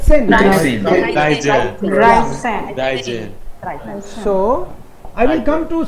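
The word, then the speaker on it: sechs: Sen. H is silent.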